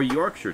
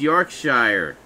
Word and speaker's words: Yorkshire: I guess Yorkshire. Yorkshire. You'd think they pronounced it Yorkshire. It's one of them silent letter things.